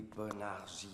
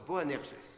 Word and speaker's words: Boanerges: Les Bonergies... C'est quoi? Bonerges... Ah, ça se prononce Boanerges.